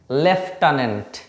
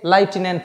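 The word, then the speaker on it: lieutenant: এটা একচুয়ালি হচ্ছে লেফটানেন্ট। লেফটানেন্ট। লেফটন্ট বলে সেই লেফটন্ট। এখানে অনেকে লাইটিনেন্ট বলে। লাইটেনেন্ট বা অনেকে অনেক ধরনের উচ্চারণ করে।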